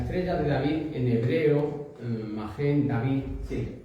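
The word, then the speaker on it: מגן דוד: Magén. David, pronunciación magén David quiere decir escudo de David y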